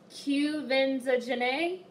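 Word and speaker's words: Quvenzhané: now you guys have told me how to pronounce this girl's name Cubans are janay was so good in that movie I love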